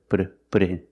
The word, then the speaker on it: put in: Pronunciation, the T in put sounds like a fast D. Put put a put in put a put a put in.